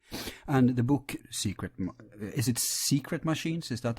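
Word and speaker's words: Sekret: Yeah, the K it's a long story, but yeah, it's secret, just the way it would normally be pronounced.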